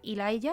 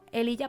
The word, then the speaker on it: Elijah: Y nosotros seguimos ahora entonces hablando de Elijah, que en realidad su pronunciación sería Elijah, pero bueno, Elijah para nosotros.